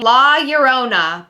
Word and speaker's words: La Llorona: My next one is La Llorona, or as people have corrected me into saying, La Llorona, but I sound really American and it sounds dumb when I say it like that.